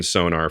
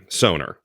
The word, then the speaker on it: Sonor: and continue but that's we heard it from Thomas bar from uh sonor thank you Thomas for clarifying we just want the correct information yeah soner soner yeah great drums beautiful drums